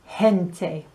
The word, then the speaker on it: gente: so la gente the pronunciation is gente other examples we had general mente which means